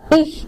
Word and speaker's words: ich: Kalau CH itu bacanya seperti KH, ich itu ya, jangan ich tapi I.